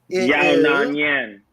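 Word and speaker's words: Yan Xiaonan: Let me pronounce that again. Yona Nyan.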